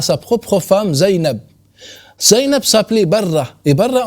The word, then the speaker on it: Zainab: la prononciation arabe donc on dit pas zinobia on dit Zainab au final zaïab n'est